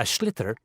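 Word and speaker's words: sliotar: you have to get this ball called a schlitter that's s-l-i-o-t-a-r so it's not spelt the way it's pronounced you hit it into the net for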